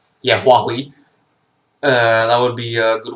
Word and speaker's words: Huawei: Is that how it's pronounced? Yeah, Huawei.